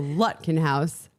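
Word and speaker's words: Lutkenhaus: It's like with like a putt in golf. So Lutkenhouse.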